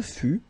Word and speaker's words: fus: Je fus, okay, keep in mind that final S is not pronounced.